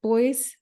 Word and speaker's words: Boise: and forgive me, I don't know how to pronounce that. Is it Boise State University? Boise State.